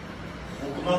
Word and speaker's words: हुक्मा: स्थानीय नाम है इसका, हुक्मा पक्षी। जो लोकल नेम है हुक्मा पक्षी। कई जगह इसको हुकना भी कह देते हैं, एक ही बात है, कोई बड़ी बात नहीं है। हुक्मा, हुक्मा, pronunciation।